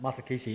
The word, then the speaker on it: Matakesi: Tell us about Matakesi. Am I pronouncing that correctly as well?